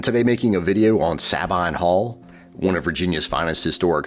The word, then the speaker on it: Sabine Hall: Oh, and also I've always pronounced it, Sabine Hall. That's how I've always heard it said around here as opposed to the Sabine people of Italy.